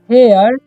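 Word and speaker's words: hare: है उसी तरीके से यहां पर एच ए एच ए आर ई है इसे पढ़ते हैं हम लोग क्या पढ़ते हैं हेयर पढ़ते हैं ठीक है हरे नहीं पढ़ना है ठीक है उसी तरीके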